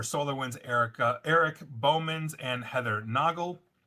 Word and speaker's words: Noggle: For SolarWinds, Erik Boemanns and Heather Noggle. Rhymes with goggle, and bailiff Manning Sweatland.